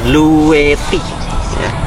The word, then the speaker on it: Bluetti: di sini ada tulisan bluetty saya nggak tahu bacanya gimana cuman kalau saya lihat review-review orang luar memang dibacanya bluet ya dengan teh double ini mereknya sebelah sini